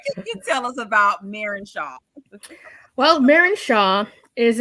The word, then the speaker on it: Marin: Her name is, now Tracy, I'm saying Marin. Is it Marin? Yep. How do you pronounce it? Okay. Marin's good. Yep.